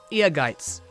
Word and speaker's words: Ehrgeiz: And before we end off, an honorable mention is Zell's final weapon that everyone tends to pronounce wrong because it's a German word. The German word Ehrgeiz. It quite literally just means ambitious. So if we had to slap it with an English stick, it could be Ehrgeiz, Ehrgeiz, or Ehrgeiz. Hopefully that helps.